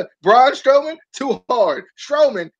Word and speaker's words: Strowman: Strowman, 2 syllables.